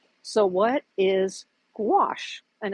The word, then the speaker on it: gouache: come across if you're thinking about painting with gouache so what is gouache and it's spelled g u a c h e sorry